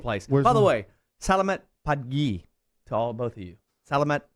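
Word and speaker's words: Selamat pagi: Salamat Pagi.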